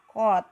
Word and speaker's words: cot: Kebalikan dari tangen adalah kotangen, ditulis COT, kot, biasanya kot.